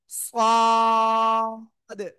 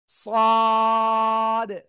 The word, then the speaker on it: صاد: এই অক্ষরের নাম হলো সাদ। অনেকে বলেন সাদ, না, সাদ। চার আলিফ টান, কয় আলিফ? চার আলিফ, সাদ, ঠিক আছে। সবাই জোরে জোরে বলেন, জোরে জোরে, সাদ।